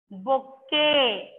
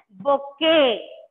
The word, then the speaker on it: bouquet: But T is silent while we are pronouncing this word. We pronounce it as bouquet.